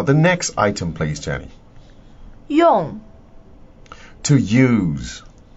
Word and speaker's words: 用: 用. To use. 用. To use. Fourth tone, yeah.